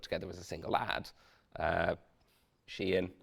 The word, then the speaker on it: Shein: Shein, I believe is the correct pronunciation, have just given individual